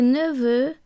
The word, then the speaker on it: neveux: Des neveux, nephews. Notice that the X which forms the plural is silent.